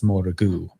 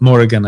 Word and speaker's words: Morrigan: Uh who I would often pronounce Morrigu. Yeah. Sometimes I don't know what's right. Um but Morrigan I think is more uh common cuz that's how Christine says it too and she actually has